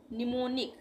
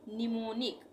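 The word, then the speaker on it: mnemonic: इसको हम क्या पढ़ेंगे निमोनिक निमोनिक एम साइलेंट हो जाएगा इसका उच्चारण नहीं होगा निमोनिक निमोनिक का मतलब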